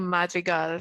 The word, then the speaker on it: Madrigal: you think the um the name magal sounds like mag magical yeah you think that's on purpose could be F actually in this movie yeah like phonetically it's supposed to sound like magical magical magical I think